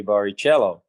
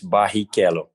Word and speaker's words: Barrichello: saying it it's uh it depends where you are in the world because in england if you wanted to say barry kello it's tough so they say baricello and uh in in portuguese brazilian portuguese it's bahikello with a two r's pronounced but then you know i my name is is is different everywhere but the most common is barry keller and you're happy with